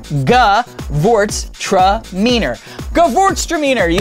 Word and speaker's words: Gewurztraminer: so we're throwing it up right now Derek g vort tror g vort tror Gort tramor you say that 10 times and